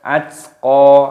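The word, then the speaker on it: الأتقى: Wasayujannabuhal, buhal, atqa, atqa, taknya sukun dimatikan, atqa. Nah, seperti itu cara membacanya. Kita baca dari sini. Alladzi kadzdzaba wa tawalla, wa sayujannabuhal atqa, atqa, taknya sukun dimatikan, qafnya dibaca panjang, atqa.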